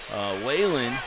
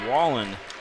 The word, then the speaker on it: Whalen: She was looking for Whalen. Abby Whalen. I pronounce that, I should say Wallen is how you pronounce that.